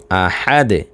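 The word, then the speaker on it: أَحَد: যদি এখানে জজম ব্যবহার করি তাহলে দালের উপরে জজম আসলে সেই দালটা হয়ে যাবে কলকলার হরফ। কলকলার উচ্চারণ করতে হবে। সেক্ষেত্রে আমরা উচ্চারণটা করব আহাদে।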